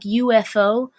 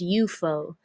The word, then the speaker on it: UFO: In 1966, a new rock concert venue, the UFO, and it's spelled like UFO, but if you're in the know, if you're a knower, if you're a knowing one, then you'll know that it's pronounced UFO.